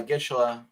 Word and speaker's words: Gischala: Some people say Gishala or Gishala. I go by Gishala. That's how I pronounce it.